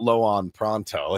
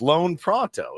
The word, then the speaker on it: Loan Pronto: It's not Loan Pronto. It's Loan Pronto.